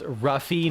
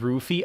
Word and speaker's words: Luffy: Also, it's pronounced Ruffy, not Roofy.